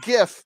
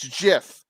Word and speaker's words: GIF: how you say it it's not gif it's jiff sir jiff is a type